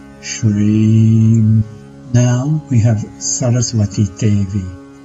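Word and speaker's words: श्रीं: Once again, the vowel here is a long vowel, so her mantra is pronounced Shreem.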